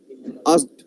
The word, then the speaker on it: asked: আচ্ছা এই দেখো, শোনো, ASK, the pronunciation is a sa ka. Are you getting? Ask, asked, asked নয়, আগে ক আসবে না, আগে স আসবে। asked, Asked. এই জন্য asked বলবে, asked, ASKD, asked, এই pronunciation করবে।